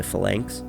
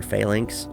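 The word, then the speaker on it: phalanx: a fanks or failinks I've always pronounced it fanks but I I recognize that my small town Nebraska pronunciation is probably not accurate and I see a lot of people online calling it failinks so that's probably how it's actually pronounced and you might see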